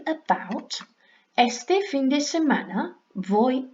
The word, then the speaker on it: voy: Our V's sound like B's when we pronounce, but not too much, so they're more rounded, so voy, vas, va, vamos, vais, van.